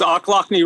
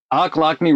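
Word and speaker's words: Ochlockonee: um state park i just forgot how to pronounce it frank help me here it's oclockney river state park oklakne river state park and it is really really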